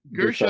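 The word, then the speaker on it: Guerschon: Is Gershon? Gershon.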